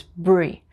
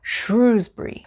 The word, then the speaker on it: Shrewsbury: for example number 19 shrewsbury shrewsbury so it's bree shrewsbury shrewsbury and number 20 we